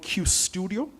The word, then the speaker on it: Qustodio: It's called Q Studio. It's spelled Qustodio.